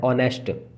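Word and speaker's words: honest: इसको हॉनेस्ट ना पढ़ना क्योंकि इसमें एच जो होती है वो साइलेंट होती है, तो इसका जो स्वर निकलता है, उच्चारण जो निकलता है वो निकलता है ऑनेस्ट।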